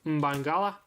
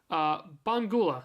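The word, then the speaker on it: Mbangula: Mora, Kenan Yildiz, Mainu, Bangula. Oh my god. Let's just never pronounce the M. Bangula, there you go.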